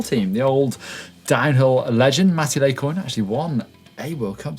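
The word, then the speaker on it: Matti Lehikoinen: - Mattil Ehikoinen - Mattil Ehikoinen, I've never been able to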